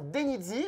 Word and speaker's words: Denyzee: Bon, en tout cas, je suis super content de recevoir cette chère Denizzi. Je le prononce bien.